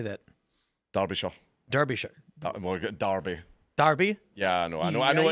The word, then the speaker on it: Derbyshire: So how many other things have police officers Derbyshire. done? Yeah. Derbyshire? How do you say that? Derbyshire. Derbyshire. Derby.